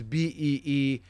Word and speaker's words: Bijan: Go look it up where he says like it's not even Bijan. Like Bijan is Beejhon or something like that, but not even close.